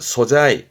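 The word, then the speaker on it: 素材: 발음은 소자이. 소자이 말 그대로 바탕의 흰 부분을 말하는 소자니까 바탕이 되어지는 재료 소재를 소자이 소자이 그렇죠?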